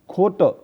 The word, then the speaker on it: खोटं: एकदा एक मुलगा, लाइज का मतलब होता है खोट यानी झूठा, खोट। ये ख पर ओ की मात्रा खो, खोट। ट पर टिम्ब है, यानी ट पर एक पॉइंट है, उसका उच्चारण न जैसा होता है, खोट।